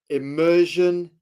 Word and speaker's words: immersion: It is immersion. I ah with a with a kind of with a with a an accent on the E to separate you from image.